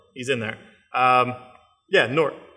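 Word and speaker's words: G'nort: in there um yeah north it's a silent g like nat so don't don't say gene nord or ganor you know it's nort um and batman superman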